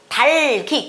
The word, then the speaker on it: 닭이: 닭이가 아니라 달기, 기억이 뒤로 넘어가서 달기라고 읽습니다.